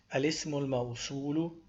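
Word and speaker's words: الاسم الموصول: But then of course when we join, we don't pronounce the a, we say al-ismul mawsulu.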